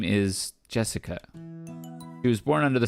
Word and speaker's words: Jessica: Anyways, that's pronounced Jessica.